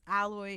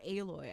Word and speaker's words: Aloy: um new monsters because alloy is moving um or aloy i think is how you pronounce it is moving out west